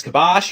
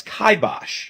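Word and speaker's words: kibosh: Just like this word which many people pronounce as kabash or kibash but is correctly pronounced as kaibosh or this word which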